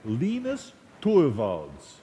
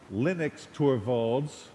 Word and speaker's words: Linus Torvalds: That's how you say it, by the way, Linus Torvalds. It's not Linux Torvalds or Linux Torvalds.